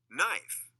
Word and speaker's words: knife: A silent K comes in front of N.